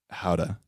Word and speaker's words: Gouda: we're like okay yeah this is really good gouda and he's like how to i was like how do you pronounce it how duh how to he's like